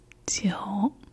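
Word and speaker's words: 九: Jiu, but with 6, it's L-I-U, so one might think that they're similar in how you pronounce them, but that's where the tone actually makes all the difference.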